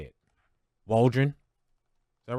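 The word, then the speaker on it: Waldron: offensive coordinator Shane how do you say it walren is that right hey Kenny is that right Shane Waldren that's what it sounds like yep Shane Waldren uh you get a new offensive coordinator in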